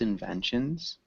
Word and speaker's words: inventions: Can you repeat discuss inventions? Discuss Discuss invention, inventions. inventions, Inventions. Good. Yeah, get that zzz sound at the end.